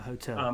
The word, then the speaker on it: hotel: A hotel. Because the H is very, very firmly pronounced there.